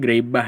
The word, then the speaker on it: Greibach: dengan materi bentuk normal grebah dibacanya grebah ya nah jadi eh